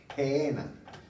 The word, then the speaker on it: Gehenna: en español, sino va a encontrar la palabra Gehenna. Se escribe G de gato, E-H-E-N-A.